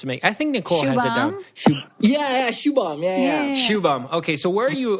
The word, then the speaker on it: Shubham: pronounce your name correctly so if you can pronounce it for me just to make I think Nicole Shubham okay so where are you where's your family